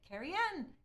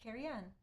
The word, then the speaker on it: Carrion: Siri and going hmm how do you really say it Carrie Anne carrion you said it before and I missed it sorry thank you at arrows pronounced carrion cool okay well I